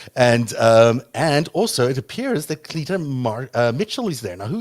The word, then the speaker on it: Cleta: Cleta, I think is how you say her name.